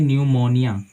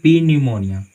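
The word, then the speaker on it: pneumonia: उसी तरह से मान लीजिए न्यूमोनिया, न्यूमोनिया, ठीक है, तो आप इसको पढ़ते हैं न्यूमोनिया, ना कि पी न्यूमोनिया, ठीक है। यहाँ पे पी साइलेंट है, तो देखिए कॉन्सेप्ट कहता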